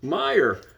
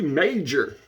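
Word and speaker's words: Meijer: kind of name is that they said it's pronounced Meyer how do you how do you pronounce that that what a weird name yeah it should be major you know and I just watch this and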